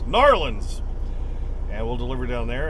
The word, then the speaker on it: New Orleans: down to New Orleans New Orleans say it is one word not New Orleans not New Orleans it's narlins and we'll deliver down